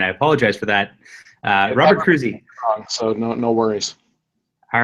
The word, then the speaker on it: Kroese: that prior to this it's actually cruzi cruzi okay well I'm glad I asked that on the air here and I apologize for that Robert cruzi so no worries all